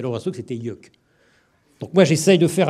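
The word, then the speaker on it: Yeuc'h: Ben non, non, non, vous m'avez dit à l'oreille que c'était Yuck.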